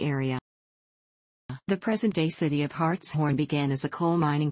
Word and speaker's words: Hartshorne: Hartshorne, pronounced Hartshorne, is a city in Pittsburg County, Oklahoma, United States.